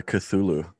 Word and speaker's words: Cthulhu: um it's from a film i think it's spelled like c-t-h-u-l-h-u see if i can see t-h-u-l-h-u anybody knows how to pronounce this thing yeah that's uh cthulhu cthulhu okay so there's a plug-in called cthulhu